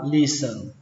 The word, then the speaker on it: listen: listen I listen thì các bạn tưởng tượng vào đây không có ông T mà ông sờ này nó nói sang năm em luôn gặp là listen listen cách đọc thứ hai